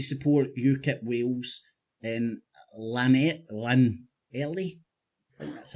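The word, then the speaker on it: Llanelli: Yak yakle he's talking about um Tommy Robinson came to support ukip Wales and lanet Len Ellie that's how it's pronounced so he was talking about Tommy Robinson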